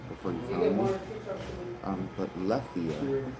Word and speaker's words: Lethe: But Lethia, I spell it Lithia, but Lethia in Greek, in ancient Greek, means forgetfulness.